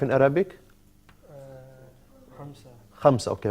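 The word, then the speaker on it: خمسة: Khamsa. Khamsa. Okay, right. Khamsatun.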